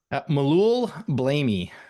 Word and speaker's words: Melloul-Blamey: think that Anyways, says Blammy, doesn't it? but I What don't is it? know. How do you say He's it, Adam? Melloul-Blamey.